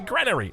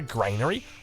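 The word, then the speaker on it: granary: sorry granery coming down got to make sure I pronoun pronounce everything correct uh it's it's a it's a granery it's not a Grainery uh but uh let's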